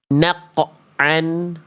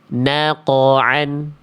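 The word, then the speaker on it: نقعا: Jangan membacanya dengan “naqoan”, “ naqan”, tapi “naqoan”.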